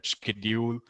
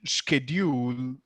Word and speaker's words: schedule: Americans call it schedule. There are other people who say schedule. It's fine, but generally, schedule is the pronunciation most of us hear and understand across the globe.